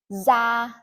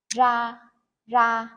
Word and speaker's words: ra: So in the north, we pronounce this R and the D without the cross exactly the same. Z. For example, da is a skin with a D. Za to go out.